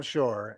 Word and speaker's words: Shore: Our first speaker is uh Shore, I believe is the pronunciation, followed by Lindsay Sutton.